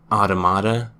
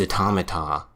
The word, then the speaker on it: Automata: Excuse me, you pronounced it automata? The correct pronunciation is automata. Like the plural of automaton.